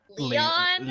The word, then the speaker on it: Lion: sure including lion who whose name is actually like Leon Leon yeah is it's like French Leon Leon but like they write it like Lion but it's supposed to be pronounced like Leon and I'm just think